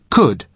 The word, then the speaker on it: could: listen to the pronunciation could could you spell it c u l d but the letter L is silent could now listen to